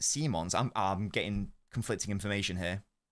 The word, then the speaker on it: Simons: It's a Dutch name, so it's pronounced Simons.